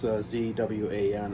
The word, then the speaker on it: Zwan: However you pronounce it. It's Zwan.